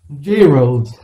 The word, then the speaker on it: gyro: pronunciation no it's just that's the pronunciation jayro it's not it's not